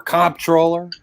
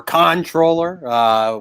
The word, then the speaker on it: comptroller: mayor, Brad Lander for comptroller or controller, whichever pronunciation you prefer.